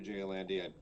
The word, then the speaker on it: Andy: hello everyone uh Andrew J Andy been blind Rob pronounce him you can follow me at Andrew Jandy that's Andrew the letter J and my last name a n d y That's for Instagram and